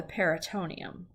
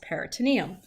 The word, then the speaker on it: peritoneum: Now, the abdominal cavity has most of your abdominal organs, and it has a membrane around it called the peritoneum, or you'll hear it pronounced peritoneum.